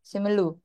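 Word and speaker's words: Simeulue: Bacanya benar ya? Simelu. Iya, Simelu.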